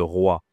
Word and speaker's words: roi: Le roi. Donc on dit la fête des rois. Attention ici la prononciation c'est RW. roi pas facile.